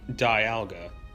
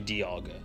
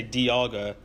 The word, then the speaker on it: Dialga: peaking of Yaga you think it would be Dialga it's actually Dialga really Dialga even though so I was still pronouncing it wrong fine that that's what that's what the Pokedex pro says they say Dee Agha despite dial being part of a clock and